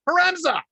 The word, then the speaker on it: Haremza: It's exactly how it's spelled. Haremza.